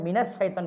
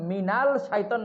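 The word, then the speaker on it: مِنَ الشَّيْطَانِ: শামসিয়া যেগুলো, ওগুলোর আগে আল থাকলেও লামের উচ্চারণ হয় না, সরাসরি ওই অক্ষরটার উচ্চারণ হয়। এই জন্য মিনাল শাইতান না হইয়া মিনাস শাইতান হয়ে গেছে।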